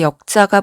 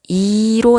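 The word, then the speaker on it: 易: 그 다음에 바꾸다 역자가 보이지만 바꾸다 역자는 다른 뜻과 의미 있죠? 쉽다 일 때는 발음이 이로 나죠. 그래서 난이도 할 때 이로도 쓰이기도 하죠.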